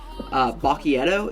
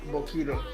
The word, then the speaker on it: Boquito: The one you're hearing right now, if it's okay, it's Bacchietto. Is that how you say it? It's called Boquito. Boquito. I see. I've been calling it Bacchiato. It's Boquito.